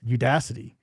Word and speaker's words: Udacity: That is the online course company Udacity. Okay, am I saying that right, Jesse? You are. Udacity. I think I should get a bell for pronouncing it.